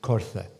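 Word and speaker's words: coirthe: Now, the most unequivocal element referring to these features in the east is the Old Gaelic word, which would have been pronounced Cortha.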